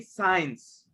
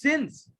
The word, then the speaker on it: since: Don't say signs. Caroline, she said since, but the correct pronunciation is since. So please never say signs. Okay? Don't confuse science with since, right? Science, that's another thing.